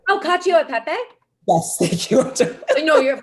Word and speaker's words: cacio e pepe: It was Cochio e pepe. Oh, cacio e pepe?